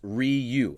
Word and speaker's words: Ryu: from a Korean it should be pronounced Ryu all right so that's right all right perfect Ryu Korean tells me Ryu that's where I'm going